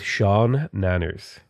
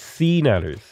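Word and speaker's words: SeaNanners: thought his name was Sean Nanners. Okay? Because it looks like Sean Nanners, but no, it's Sea Nanners.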